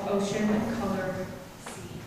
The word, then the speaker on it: Ocean Colour Scene: Ocean Color Sea. I always have to say it right because when I first learned the name, I thought it was Ocean Coliseum. It's not. Color Sea.